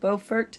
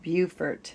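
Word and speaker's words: Beaufort: and in North Carolina the town is called bfort not to be confused with bufort South Carolina same spelling different pronunciation but now that I've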